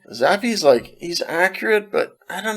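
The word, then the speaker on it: Zappe: Now we know how to pronounce his name at least, right? Yeah, Zappy.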